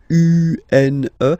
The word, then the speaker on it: une: Then the feminine article is here, and it's easier because if you have this U-N-E, then you pronounce it une, okay? Masculine, un, feminine form, une.